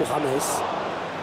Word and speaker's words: James: Il y a combien qu'on appelle juste James. et qu'il faut surtout prononcer James, hein, c'est pas James, hein, comme on l'avait cru au début d'ailleurs.